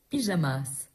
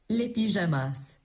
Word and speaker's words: pyjamas: Pyjamas. I like the S at the end because you don't pronounce it. Okay, Google, how do you say the pajamas in French? Les pyjamas.